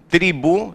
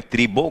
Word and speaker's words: tribu: Tribu, em espanhol se fala desse modo, né? Não é tribo com O, é com letra U, tribu.